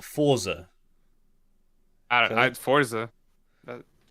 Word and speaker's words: Forza: Forza Horizon 5. Am I pronouncing it correctly? It's Forza, not Forza.